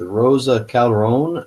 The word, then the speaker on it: Roza Calderon: Hi, I'm with Citizens Against Plutocracy, speaking this evening with Roza Calderon. I hope I'm pronouncing that right.